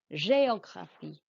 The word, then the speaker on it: géographie: and géographie and théâtre, the E accent means your voice must go up on the E. J'étudie, géographie, théâtre.